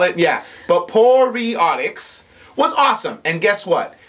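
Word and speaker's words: Poreotics: That's the only thing that it just makes me so happy for Poriotics.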